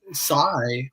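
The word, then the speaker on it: Xi: but what's it called and then of course psy which is spelled x i which it has you know has the same spelling in english as the name of the the chinese premier which i i'd suspect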